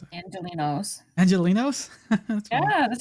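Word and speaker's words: Angelenos: How do you pronounce it? Angelinos.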